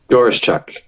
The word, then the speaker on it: Doroschuk: Now, I was going to try and pronounce your surname, but I haven't. Is it Ivan Doroschuk? Doroschuk.